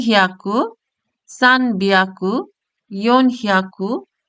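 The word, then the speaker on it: 三百: এরপর আছে 3 এর সাথে 100 উচ্চারণ হচ্ছে সান বিয়াকু অথবা সাম বিয়াকু।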